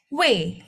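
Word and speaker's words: 웨: di sini U dan E saya betul U dan Eco U dan E kita bacanya W ya kayak ngomong U dan E bersamaan sekaligus secara cepat gitu ya.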